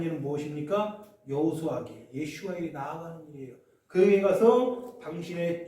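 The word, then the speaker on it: Yeshua: 히브리식 이름으로 여호수아를 어떻게 발음합니까? 우리 배성 지사님 한번 발음 한번 해주세요. 알잖아요. 예슈아.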